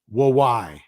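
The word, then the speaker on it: Wawawai: So it's Wawa, but it's just Wawai.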